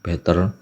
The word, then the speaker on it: Btrfs: OpenSUSE pakainya BtrFS ya, bacanya BTR, B3, Better ya, seperti itulah.